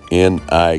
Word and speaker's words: Nikon: What does N-I-K-O-N spell?